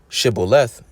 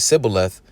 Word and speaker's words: Shibboleth: But it says, "Then said they unto him, Say now Shibboleth. And he said, Sibboleth, for he could not frame to pronounce it right.